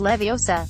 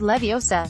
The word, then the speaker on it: Leviosa: Besides, you're saying it wrong. It's Leviosa, not Leviosa.'